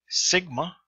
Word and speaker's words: sigma: Sigma, S as in set.